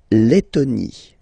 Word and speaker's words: Lettonie: So remember, when you've got this E, and then a double letter like that, T, T, okay, then you will have to open your E, and it will become E, le, Lettonie, la, Lettonie, la, Lituanie.